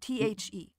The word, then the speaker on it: Ye: Y-E is actually pronounced the, because the Y is... Unless you're an American. A thorn. Exactly, unless you're an American. Which is an old defunct letter that was used for T-H.